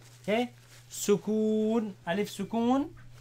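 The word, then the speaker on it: سكون: regular and if regular regular wha-what do you pronounce this you call this a leaf sukoon so servicing a leaf severe oh you say sukoon sue calf well-known sukoon yeah sukoon Wow sukoon so remember the word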